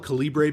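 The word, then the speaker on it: Calibre: Cali maybe it's pronounced caliber I call it calibra because the r is before the E it's not e r at the end of caliber but it's c a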